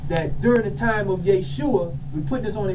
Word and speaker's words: Yeshua: a letter j so all words that we've heard of that begin with the letter J those have been Europeanized they've been changed Jerusalem Jeremiah Jesus Jericho that's not how they pronounce this brother's name was Jake sure all all